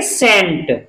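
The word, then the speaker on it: scent: एस सी ई एन टी। अब इसमें सी साइलेंट रहेगा, सी, इसको हम पढ़ेंगे सेंट, क्या पढ़ेंगे?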